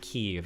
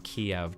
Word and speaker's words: Kyiv: I thought in Ukrainian you pronounce it Kyiv, and so they changed the capital from Kiev to Kyiv. Kiev was like the old Soviet name for the city.